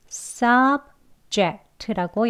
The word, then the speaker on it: subject: 그러면 1음절, 2음절 Subject라고 연결할 수 있죠. 강세는 1음절에 있습니다. Sub, Sub를 강하게 길게 높게 발음하시고요. 뒤는 약하게 해주시면 돼요.